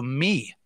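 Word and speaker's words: מי: the word for who the actual Hebrew word for that were English word who is uh actually pronounced in the Hebrew me so in the word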